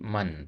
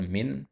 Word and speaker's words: من: Ya, likulli man. Tadi antum bacanya min. Ya, lihat yuridu itu fiil. Nggak mungkin huruf jar min masuk ke fiil. Ya. Ya. Nah, jadi man di situ.